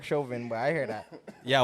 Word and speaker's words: Chauvin: Apparently it's Derek Chauvin, but I hear that.